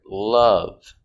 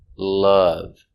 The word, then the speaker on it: love: hear the short sound uh with the word love uh love love they love each other very much let's